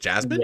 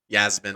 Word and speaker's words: Yasmin: I know it's Lucindo, but I think it's is it Jasmine? Yeah, Yasmin. I think it's pronounced Yasmin.